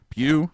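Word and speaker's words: Pugh: Pew. Yeah. Just the way it's spelled or the sound of it. Yeah. Pulley Pullman and Pebb Li Pew. Pew.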